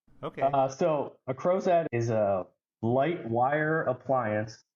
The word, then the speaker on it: Crozat: and have you explain what a crow's at is okay am I saying it right yes yes you are okay uh so a croset is a light wire